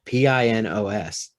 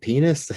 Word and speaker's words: Pinos: it and i'm like i don't know how to say this name it's p-i-n-p p-i-n-o-s and so i'm like pinos one lady said penis you know and so